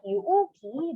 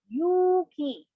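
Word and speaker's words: 勇気: and then for courage since there's an u written between the u and key it will be read as yuki not uki but yuuki say that again okay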